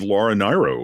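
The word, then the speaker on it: Laura Nyro: I wasn't familiar with Laura Nero, which I think that's it's pronounced Nero. correctly. Laura Nero. There's been decades of confusion about that.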